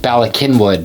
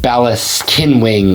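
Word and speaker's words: Bala Cynwyd: let's talk about balak kinwood and yes it's pronounced balak kinwood not balis kin wi or winding or anything like like that Bak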